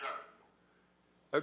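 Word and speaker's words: Shough: How do you pronounce his name? Tyler Shuck.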